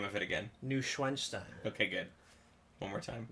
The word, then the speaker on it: Neuschwanstein: Neuschwanstein. Okay, good. One more time. Neuschwanstein.